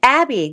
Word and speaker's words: Abbe: So is that the spelling of your name is Abbe and not Abby, but when people see the spelling Abby, they know how to pronounce it?